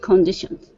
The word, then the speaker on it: conditions: To the road conditions. Okay, good. Now, instead of saying conditions, it's kun. C-U-N. Kun. Conditions.